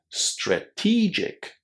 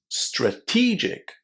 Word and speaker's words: strategic: Strategic. Strategic. Did you hear how I put the stress on the second syllable and pronounced it with a long E sound? Strategic.